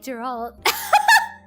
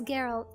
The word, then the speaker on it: Geralt: W men like Yennefer from Witcher and women like Women like Gerald. Women like Geralt. Geralt. Geralt. Why did I say his name? Geralt. Why did I say his name the wrong way? It's Geralt.